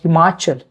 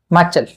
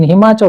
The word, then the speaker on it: Himachal: For example, pronouncing the word Himachal. How Punjabi people pronounce this? Himachal. Himachal. How? Punjabi people, we say Himachal. The Punjabi people will say Machal. Okay, they will miss some sounds.